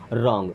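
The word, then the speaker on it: wrong: आप आर मीस है रंग अब रंग में डब्लू होता है साइलेंट ध्यान रखिएगा आर के पहले कभी भी अगर डब्लू आता है तो साइलेंट रहता है जैसे रंग हो गया रेसलिंग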